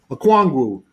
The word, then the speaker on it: Okongwu: And I'm going to pronounce his name right. Here we go here. One day. Okongwu.